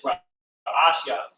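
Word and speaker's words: ראשית: So the pronunciation of beginning is Ra'ashya.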